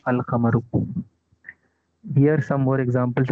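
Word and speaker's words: القمر: No such assimilation takes place with the lunar letters. Example, Al-Khamaru. The moon is pronounced Al-Khamaru.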